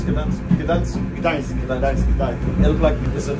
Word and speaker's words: Gdańsk: How do you pronounce Gdańsk?